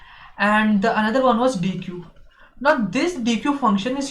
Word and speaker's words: deque: will be talking about dq data structure let me just write its name the uh dq data structure actually some pronounces as deck also uh this data